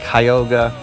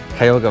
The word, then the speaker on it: Cuyahoga: was it's called it kyoga national park we didn't realize it was actually kyoga Valley National Park so I think this